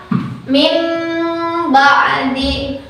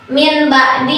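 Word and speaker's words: مِنْ بَعْدِ: Jangan dibaca min ba'di atau jangan dibaca ee mil ba'di. Tapi karena ini iqlab, jadi anggap saja nun mati yang ini adalah huruf mim sukun.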